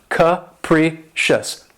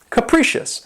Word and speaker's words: capricious: favorites is capricious and this word has three syllables and the stress is on the second syllable and keep in mind that first syllable has that schwa sound that cook capricious capricious and if someone or